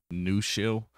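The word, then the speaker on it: Nushell: uh especially using rust and that's uh can't pronounce it it's New Shell it's n u s h e l l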